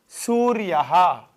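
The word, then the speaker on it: सूर्यः: Then another example, Suryaha. Suryaha means what? Suryaha means sun. Suryaha. Su-ir-yaha. Suryaha, sun.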